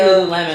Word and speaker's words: Lululemon: sure lul lemon Lululemon some people pronounce it Lon I say Lululemon from Vancouver yeah but